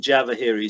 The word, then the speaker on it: Djavahery: for us sure it's there's a d like david silent in front of my name and then java harry so his d as